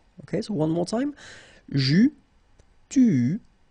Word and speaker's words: eus: Okay, so j'eus, final S not pronounced.